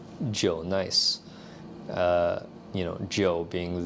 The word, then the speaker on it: Jnice: the J Nice brand, even though it's spelled just J nice, is pronounced Joe Nice.